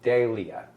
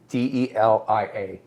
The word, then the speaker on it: Delia: Delia. No, it's Delia. Delia.